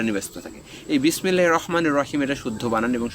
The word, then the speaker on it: রহমানির: কারণ আপনি বিসমিল্লাহির রহমানির রহিম, র আরবি হরফের 29 হরফের মধ্যে একটি হরফ হচ্ছে র, আর এটি হচ্ছে র।